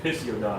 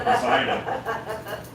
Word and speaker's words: Poseidon: I said Pisiodon until I was corrected from Poseidon.